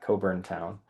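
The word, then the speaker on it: Cockburn Town: And these two layers, which are part of what's called the Coburn Town Fossil Reef, that is how you pronounce that, Coburn Town.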